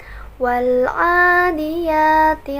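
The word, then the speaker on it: وَالْعَادِيَاتِ: contoh misalnya surah al-adiyat Wal adiyati loh berhenti tapi dibaca menjadi Wal SpongeBob hak-hak ditekan seperti itu itu untuk melakukan semua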